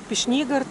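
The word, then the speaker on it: Пешнигорт: Пешнигорд, правильно говорить.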